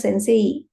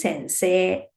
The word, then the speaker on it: Sensei: be the spelling but we won't pronounce it as Sensei no it is Sensei sensei say so the next exception